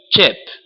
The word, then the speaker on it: chip: Que em inglês é pronunciado chip, né? Que nem o gaúcho fala che, né? É o mesmo fonema.